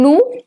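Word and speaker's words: nous: say who so in new and Wu both the S is silent it's Lu and it's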